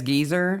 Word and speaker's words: geyser: Never mind that Brits can pronounce geyser as geezer.